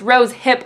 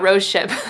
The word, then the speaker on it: rose hip: in my last video it's rose hip oil not Rose ship so um yeah I'm